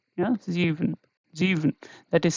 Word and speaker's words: sieben: Okay, so here again it is in the beginning, and this is pronounced as Z.